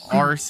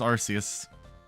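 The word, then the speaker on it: Arceus: like the UK yeah in the UK ARS is like you know a bad word I guess for it's like ass they just haded they added an r in there to be special and it looks it sounds stupid it's arus yeah in Canadian English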